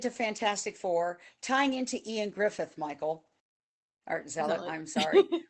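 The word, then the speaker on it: Ioan Gruffudd: was in Fantastic 4 and it looked like Yoan Griffid, but when you actually look at the pronunciation," I said, "It's Ian Griffith."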